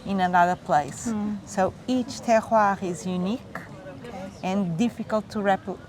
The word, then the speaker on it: terroir: word that I'm not going to try to pronounce. Could you, about this, please? Yes, terroir.